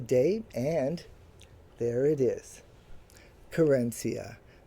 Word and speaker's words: Querencia: And there it is, Corenia. That is the English pronunciation of the Spanish loan word that we have borrowed and it is my word of the day to celebrate National Hispanic Heritage Month.